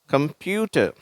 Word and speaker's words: கம்ப்யூட்டர்: carrot காய்கறிகள்ல ஒன்னு next கம்ப்யூட்டர் சரியா கம்ப்யூட்டர் அந்த கம்ப்யூட்டர் அப்படின்னு இந்த இடத்தை கொஞ்சம் அழுத்தி உச்சரிக்கிறோம் இந்த கம்ப்யூட்டர் அப்படின்னுட்டு அதுக்குதான்